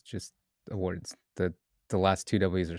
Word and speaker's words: Awwwards: So for our last community announcement, uh Awwwards launched their annual awards site this month. And if you're not familiar with wait, is that how you pronounce it?